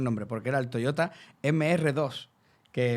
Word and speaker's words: MR2: Quitaron el nombre porque era el Toyota MR2, que en francés se pronuncia como MD y que me ha